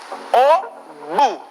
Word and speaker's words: au bout: Au bout. La T no se pronuncia. La O y la U se pronuncia como U.